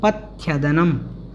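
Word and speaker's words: पथ्यदनम्: पथ्यदनम, पथ्यदनम। यदनम है, इसको पथ थोड़ा सा बोलना है पहले, पथ यदनम, पथ्यदनम, इस प्रकार से इसका उच्चारण हमें करना है।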